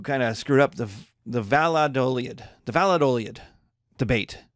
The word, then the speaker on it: Valladolid: The Valladolid debate. V-A-L-L-A-D-O-L-I-D.